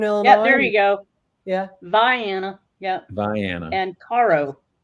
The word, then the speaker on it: Vienna: since it's Southern Illinois there you go yeah Viana yeah Viana and caroen says interesting huh okay